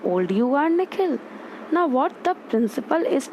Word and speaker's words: Nikhil: The way the principal pronounces his new name is different from the way his parents say it, the second part of it longer, sounding like he.